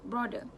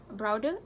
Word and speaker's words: broader: The mispronunciation often made by people is broader. It should be pronounced as broader and not broader.